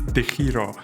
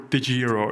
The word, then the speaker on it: Degiro: Another well-established broker here is Degiro, or Degiro if you want to pronounce it more in an English manner.